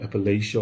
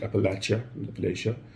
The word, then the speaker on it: Appalachia: It's from a place called Appalachia or Appalachia, depending how you want to pronounce it. Apparently, the people in there call it Appalachia.